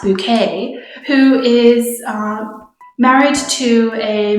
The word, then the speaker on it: Bucket: Hyacinth Bucket, it's pronounced Bouquet, who is married to a middle-class office worker and is very obsessed with, as the title might imply, keeping up appearances.